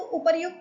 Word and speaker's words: उपर्युक्त: तो मूल शब्द हमारा यहां पे उपर्युक्त था। और उसमें क्या हुआ? प्रमाद और असावधानी के कारण जो उसका उच्चारण किया गया। वह बाद में उपरोक्त के रूप में हमें दिखाई देता है।